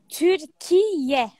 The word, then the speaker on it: Türkiye: So what do you call it? Yeah. Türkiye. Türkiye. Türkiye. Türkiye. Türkiye. Türkiye. Türkiye. That's how you say it.